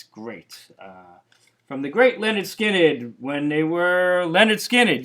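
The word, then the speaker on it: Lynyrd Skynyrd: Next up, Leonard Skinnard, and this is called Collectibles, spelled like Skinnard, and a really excellent collection.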